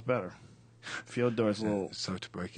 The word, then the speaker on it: Fyodor: It's actually not even Fedor. Do you know that's what we call it? It's Fyodor. Yeah. A Russian friend of mine from Jiu-Jitsu was explaining how you actually say his name. It's Fyodor. Yeah. Like Dostoevsky, It's like, that's like it, but we call him Fedor because it's like easier.